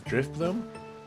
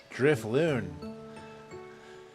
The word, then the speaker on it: Drifloon: Is this Drifloon? Is that how you say his name? Drifloon.